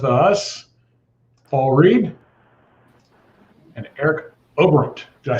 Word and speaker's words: Oberembt: we've got with us paul reed and eric obront did i say it right eric i get it i don't think anybody pronounces that name how do you say it got it that time yep i thought just